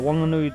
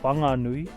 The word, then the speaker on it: Whanganui: Anyway, so the Wanganui dialect in some parts of Taranaki as well, Wasties, is that when we speak, we don't pronounce the H. So where most people would say whanganui, we say wanganui.